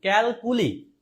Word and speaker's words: calculi: উচ্চারণের সাউন্ড আসলে কেমন? ক্যালকুলি, কুলি, এই কুলি সেই কুলি না, এটা হচ্ছে কি? ক্যালকুলি।